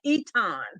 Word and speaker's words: Eaton: Looks like Eaton, but it's pronounced, that's that Louisiana, Eaton.